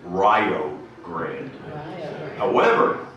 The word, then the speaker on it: Rio Grande: area of rio grande be careful in pronouncing its name in the company of local people many will swear and you know say that it's fighting words if you pronounce it any other way than rio grande i see some heads